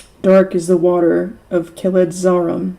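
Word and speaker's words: Kheled-zâram: Dark is the water of Keledzarum, said Gimli. If I were really going to be pronouncing this correctly, it would be Keledzarum, but that's a lot to think about.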